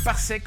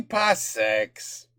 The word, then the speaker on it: parsec: Ah, il a dit parsecs. Parsec. He didn't pronounce the S. par Tatooine. Et en plus, tenez-vous bien, parce que c'est pas fini. Avec le code PARSEC, vous pourrez... Parsec. The S is silent.